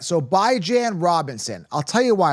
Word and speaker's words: Bijan: I'm the only one pronouncing it right. All right, so Bijan Robinson.